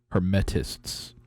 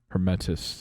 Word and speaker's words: Hermetists: Is that how we say it? The Hermeticists? I'm looking at it. Hermetists. Hermetists is how it's said.